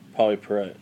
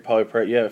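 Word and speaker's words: Pauley Perrette: Polly Perrette.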